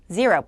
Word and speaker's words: zero: 자, zero는 한국어 자음으로요. 해당되는 게 없는데 지읒과 시읒 사이의 발음이라고 말씀드렸습니다. 해보세요. zero.